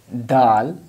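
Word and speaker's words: د: empty family dot so its place a pronunciation like this doll like tah vapor no style tah and doll if the Mahad is same so dull like the front corner of teeth of tongue will touch to upside something like roots of front upper teeth this will touch like this one to the upside so this will be dull dull then in val/val have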